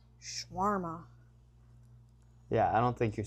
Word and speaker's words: shawarma: Yeah, I mean, that's how it's in Arabic. Shawarma.